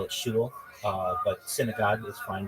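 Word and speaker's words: shul: call it Temple within Orthodoxy we call it Shu uh but synagogue is fine to say uh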